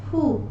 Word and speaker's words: fou: As we pronounce the letters O and U in the word soup, same way we call FOU as foo.